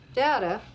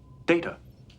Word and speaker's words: Data: Data, look at this. Data. What? My name it is pronounced data. Oh, you called me data.